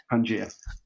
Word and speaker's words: Pangea: then did i pronounce pangaea the way that you prefer to pronounce it it is like the old continent bringing the world back together pangaea wonderful so tell us